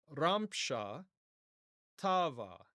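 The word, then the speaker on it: ܪܡܫܐ ܛܒܐ: calaldian Aramaic it's racha ramsha tava and if you can hear that ramsha tavva and so the stress is on the first syllable of both words.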